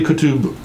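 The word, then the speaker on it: Qutb: to pronounce qu TP you just try to swallow the T and B write together say it could say Co tube was born in Egypt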